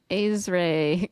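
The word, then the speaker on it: Aaric: Azray. Yeah. It's Azare with an I.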